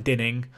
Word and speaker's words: Dinning: I mean, Dixon's let down Glenn Dining then, or Glenn Dinning, if you want to be correct about his pronunciation.